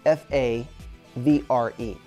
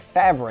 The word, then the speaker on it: Favre: Brett Favre spells his name F-A-V-R-E. Sounds like Favre if you're looking at it, right? But no, it's Favre, F-A-V-R-E, Favre.